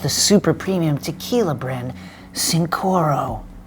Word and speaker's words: Cincoro: Michael Jordan and 4 other NBA owners launched the super premium tequila brand Cincoro, or Chincoro depending how the Spanish pronunciation is pronounced.